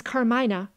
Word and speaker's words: Carmina: musicians the young lady's christian name she preceded is carmina put the accent if you please on the first syllable the moment mrs galilee